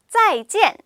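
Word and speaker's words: 再见: 짜이 진이라는 표현을 쓰잖아요 여기서 포인트는요 우리가 짜이찌엔이라고 얘기하지 않고 잘가이 음에 맞춰서 얘기하지 않고 자 중국식 표현대로음을 딱딱 끊어서 강하게 짜이젠 짜이젠 이렇게 그게 단호하게 말씀해 주시는게이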